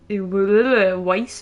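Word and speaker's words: weiß: how to pronoun pronounce vice vice vice it's basically like ice but with a W in front Weiss so what we have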